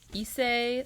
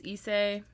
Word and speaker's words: Issei: You may look at your next picture, because that tenant was 32-year-old Issei Sagawa of Japan.